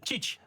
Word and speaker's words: Tite: Alors, je ne sais pas si on le prononce comme ça en France, Tite. En France, on dit cheat.